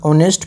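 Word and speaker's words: honest: ऑनेस्ट में जो है एच साइलेंट रहता है, तो ऑनेस्ट की जो साउंड है, जो प्रोनाउंसिएशन है, ये वोवेल साउंड से स्टार्ट हो रहा है।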